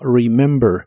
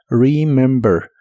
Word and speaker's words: remember: Y la primera e de esta palabra se pronuncia como una i corta. Remember.